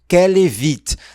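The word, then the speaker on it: qu'elle évite: Lembra aqui você vai contrair e falar kelevit kevit.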